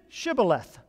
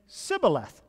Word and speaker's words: shibboleth: they would say well say shibboleth they gave him a word to say and they would say sybileth because they couldn't pronounce it right they couldn't pronounce